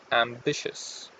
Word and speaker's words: ambitious: And the a in the beginning, it's not up, it's a, ambitious. Okay?